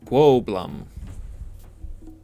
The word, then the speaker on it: Goblum: She pronounces it Gwoblum.